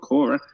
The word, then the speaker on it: Quora: I've been on uh quora or however we pronounce it I call it Cora q-u-o-r-a quite a bit asking